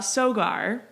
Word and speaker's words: Sogar: guests of ours you what is your interpretation of how your last name is pronounced great one because i get a lot of them uh sogar you nailed it you know good it's